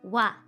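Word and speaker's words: は: hiraagana for ha h a ha but it's pronounced wa in a lot of grammatical s context ha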